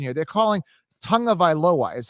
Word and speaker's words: Tagovailoa: tag viola yeah well how can you ever get an n sound in there there's no n at all no there's no tongue it's tago tagovailoa tago like t-a-g-o veil